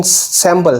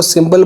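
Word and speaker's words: symbol: Number 9 पे है मिसप्रोनाउंसिएशन सैम्बल। सैम्बल नहीं है, इसको सिंबल बोलना है।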